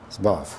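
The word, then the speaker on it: Zborów: Could you spell that, please? Z, like a zebra, B, O, R, O, W. Borov. Zborov.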